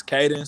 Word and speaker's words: Cayden: So basically, my name is Caden. So it's CAYDEN, and then the 10 right there is supposed to rhyme with the den. So it's supposed to be like K10.